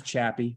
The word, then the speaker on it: Chappy: It is Chappy, rhymes with happy.